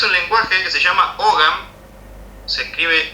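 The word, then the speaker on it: Ogham: Es un lenguaje que se llama Ogam. se escribe O G H A M.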